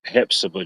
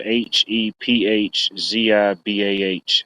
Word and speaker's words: Hephzibah: couple days uh it's in the town of Hephzibah, Georgia. Uh that's spelled H E P H Z I B A H, Hephzibah, Georgia.